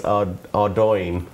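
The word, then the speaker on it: Ardougne: And they asked us to pronounce Ardoin, which is how it's pronounced, and I said Ardy, just Because it's easy.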